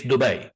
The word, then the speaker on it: Dubai: you say it, but trust me, it's Dubai. That's how you say it. It's an Arabic word.